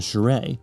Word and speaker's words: Shire: Malawi, meanwhile, is very territorial over Lake Malawi, which connects to the Indian Ocean via the Shire. Yes, that's how it's pronounced.